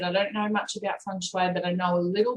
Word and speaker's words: feng shui: many different how do you pronounce it i pronounce it feng shui but no i have a little bit of